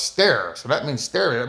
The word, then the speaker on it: sterre: So as long as you are stare s e r r e is pronounced stare.